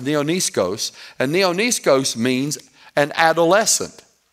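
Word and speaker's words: νεανίσκος: That word young men in the Greek is the Greek word neoniskos, N-E-A-N-I-S-K-O-S, for those of you that care. It's pronounced neoniskos.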